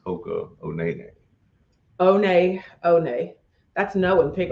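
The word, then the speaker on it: Hoka One One: Hoka one pronounced Hoka Onene.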